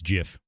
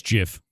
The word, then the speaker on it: GIF: It's pronounced GIF. It's Jif. Yeah, it's Jif.